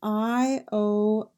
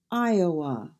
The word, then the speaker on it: Iowa: And in Iowa, we have Iowa, Iowa.